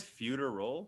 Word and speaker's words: feudal: Feudal China? Feudal China. I always fuck that up. But yeah, go ahead. Sorry. There's no R in the middle there.